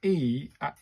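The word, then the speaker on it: え: is pronounced it as e like the e in men. So it's an e.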